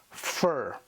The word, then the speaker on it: fir: it with an R now that vowel I becomes an R controlled vowel which means the sound has changed completely so this word we have here now is pronounced ER fur by the way fur